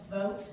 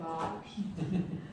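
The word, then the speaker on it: Bogt: Some people pronounce it vote, but we here in Dunnellon pronounce it bot.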